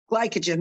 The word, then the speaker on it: glycogen: go with glycogen glycogen glycogen there we go see it's a it's a it's a long eye instead of a short uh soft eye so there we go